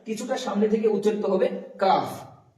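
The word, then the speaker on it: ق: তারপর হচ্ছে কফ। এখানে কফ উচ্চারণ হবে। এখানে একদম যেখানে দেখছি এটা হচ্ছে আলাজিবি জীবের শেষ প্রান্ত এবং আলাজিবির কাছ থেকে মানে জীবের একদম শেষ অংশ থেকে উচ্চারিত হবে অফ এটা বলার সময় উপরের তালু উপরের বলতে পারেন এখানে যে আলাজ আছে ওটার সাথে বা জীভের শেষ অংশ উপরের তালুর সঙ্গে লাগিয়ে উচ্চারিত হবে অফ অফ অফ তারপর কাফ কাফটা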